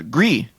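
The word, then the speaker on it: Gris: they the other stuff they've made yeah uh gree it's coming to PS4 and PS5 I said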